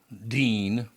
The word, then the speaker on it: Dean: So back to my grandfather, Emil Dean, or Dane, they pronounced it actually.